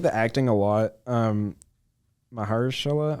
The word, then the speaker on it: Mahershala: Mahershala, I think is how you pronounce it. Mahershala, yeah.